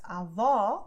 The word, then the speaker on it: avó: pronouncing is also different, because avó, I'm opening my mouth. Avô, I am closing it. Avó, avô. Avó, avô. Avô, avó. Avô, avó. Okay? Let's get out of the loop of avó, avô, avô, avó, and